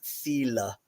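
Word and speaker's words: þyle: people will say um like a Modern English they'll say thile uh in Old English it was Fila and amongst the Norse it was thulur but it has a very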